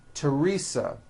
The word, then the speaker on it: Teresa: Although these next words and names are spelled with a TH, they are pronounced as if they were spelled with a normal T, like that.